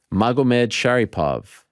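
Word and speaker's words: Magomedsharipov: Magomed Sharipov.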